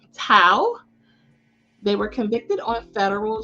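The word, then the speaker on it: Thao: so i did confirm the pronunciation is j alexander king and tal tao they were convicted on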